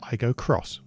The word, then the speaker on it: Aygo X: this is the toyota i go cross spelt with an x that replaces the igo